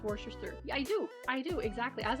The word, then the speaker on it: Worcester: The R is silent.